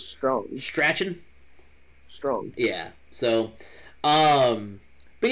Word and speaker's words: Strachan: It's pronounced Strong. Really? I thought from watching the highlights, because I didn't watch the game. I was at the track. But watching the highlights, and every time he made catches, it was Michael Strong. I thought it was Strachan.